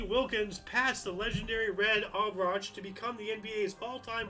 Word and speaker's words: Auerbach: Lenny Wilkens is a really good ball player, great coach, and just for the record, it's Red Auerbach.